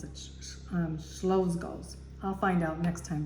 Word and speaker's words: Czolgosz: I think that's how you pronounce it, Czolgosz. I'll find out next time, but I think that's how you, it's a Polish name.